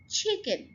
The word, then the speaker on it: chicken: The next one is chicken. Chicken, आप ये देखिए इसके ऊपर मैं स्ट्रेस डाल रही हूँ, चिकन। से इट विद मी, chicken.